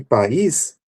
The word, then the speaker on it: país: Para o caso de pais, e país, a única coisa que vai mudar aqui é a ocorrência da sílaba tônica, né? Que para pais ela vem no primeiro e para país ela vem no segundo.